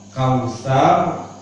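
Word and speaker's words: الكوثر: Ini ada ro, kausar dibaca tafkhim, tebal, sar. Cara membacanya lidah kita tidak sempurna sar, tapi sar, seperti mengucapkan o. Seperempat dari huruf o.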